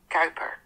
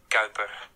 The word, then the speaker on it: Kuiper: its existence, decades earlier Kuiper was originally Dutch, so the correct way to pronounce his name is Gea: "Kuiper" Kooper! Anneke: "Kuiper" Cow-per! Koen: "Kuiper" Kauper!